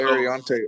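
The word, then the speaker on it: Aireontae: I don't know how to pronounce it, but Ursary, the offensive tackle out of Minnesota. Yeah, So, Ariante Ursary.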